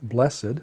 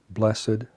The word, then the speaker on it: blessed: for a moment um in English it can be pronounced as a twoos syllable word blessed are the poor in spirit or as a one syllable word blessed are the poor in spirit blessed are those who mourn uh same spelling same meaning just a different pronunciation you can say it either way it's fine although in natural